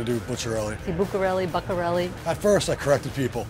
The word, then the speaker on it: Bucciarelli: only one name you need to know but pronouncing it properly ain't always easy people mostly call it but Corelli's I think they say Lucarelli more than I do put your own Lucarelli bucka rally at first I corrected people its butcher le